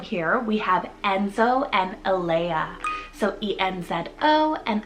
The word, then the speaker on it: Alea: For another girl and boy sibling here, we have Enzo and Alea. So E-N-Z-O and Alea is E-L-A-I-A.